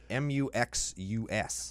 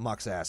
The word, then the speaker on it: Muxus: Maybe it's Muxass. Muxass. No, it's not Muxass. Well, I'll submit the Muxus combo.